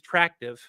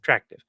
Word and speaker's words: Tractive: But yes, we we have for everyone wondering, he has uh we use trackctive uh or let me might be mispronouncing that. Uh track active. Tractive. T R A C T I V.